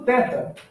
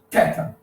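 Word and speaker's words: θ: No período da koiné, ou seja, no período do Novo Testamento, ele já se pronuncia como em inglês o TH, né? O TH em inglês, que o TH de think, né? De earth, que é de theology, enfim, que é esse som com a língua entre os dentes.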